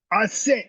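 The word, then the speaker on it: Auset: Okay, so a set is spelled a U s e t and a represents the sacred feminine. A set in many ways is the ultimate female.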